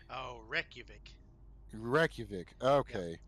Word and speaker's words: Reykjavik: an Icelandic video game company, and I cannot pronounce their name that they're located in. So, We'll start with. eh, I think it's Reykjavik. Oh, Reykjavik.